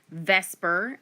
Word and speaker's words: VSEPR: real life in 3d it's pronounced Vesper but it stands for valence shell electron pair repulsion basically it attempts to